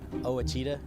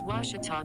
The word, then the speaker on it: Ouachita: after this time out i've heard people say oh a cheetah oh wish tall oh a cheetah is it pronounced oh aikida searching for washi at a baptist university back in texas everybody pronounces it wichita but really it's ouachita washington towel how would you pronounce it it's washita baptist university get it right it's